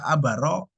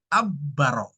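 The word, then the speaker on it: عبّر: yang keliru tadi kan kalau takbir dari kata abaro itu keliru ya bukan dari kata abaro tapi dari kata abbaro ya abbaro yabbiru itu artinya mengungkapkan abariru takbir tapi kalau abaruru artinya melintasi Ya beda ya Nah Anda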